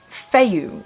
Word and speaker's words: Fehu: them are permanent uh the release is called feiyu which is spelled f-e-h-u i'll put it up there and